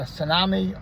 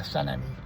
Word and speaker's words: Sanami: Over here, it's either Sanami or Sanemi. I don't like acknowledging, even though it's all spelled the same way. The individuals that pronounce it Sanemi are fucking snobs.